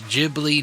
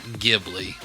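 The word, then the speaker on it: Ghibli: and he says that it is jibli not Gibli and I I've heard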